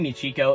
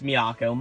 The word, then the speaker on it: Miyako: and how um oh I just keep saying me Chico it's Miyako my bad about that